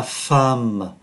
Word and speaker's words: femme: Thì bên nữ này, tức là giống cái, có la femme. Chúng ta để ý viết là O mà đọc là A, la femme là một người phụ nữ, la fille là cô gái.